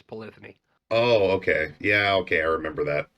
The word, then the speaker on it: Polyphony: dead people says it's polyphony oh okay yeah okay i remember that i remember that well polyphony rhymes with sony so